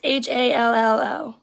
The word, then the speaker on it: Hallo: How do you say hello in German? Hello? It's HALLO.